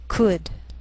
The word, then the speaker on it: could: Sometimes L can be silent, so you have to be careful.